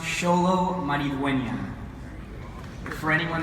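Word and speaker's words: Xolo: actually a great question my name is spelled you can see right here it's xol it means the North Star it's not actually yeah so it's pronounced solo money win young for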